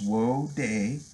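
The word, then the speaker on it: wheauxdie: So that's a French spelling for woody. For those of you hip-hop heads out there, especially those of you who have listened to rap from, like, New Orleans, Louisiana, it's a term you've heard before. But it's pronounced woody.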